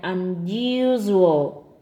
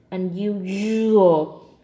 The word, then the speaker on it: unusual: syllable you sure that's that second syllable the one with the underline needs to be voiced put your hand on the throat and feel for vibration in the second syllable now put it together